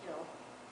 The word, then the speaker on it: kiln: come up i know in the dictionary it's pronounced kill but i just can't bring myself to say kill so how big is